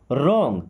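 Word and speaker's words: wrong: रॉन्ग देखिए W silent होता है। यहां पे क्या पढ़ते हैं? रॉन्ग।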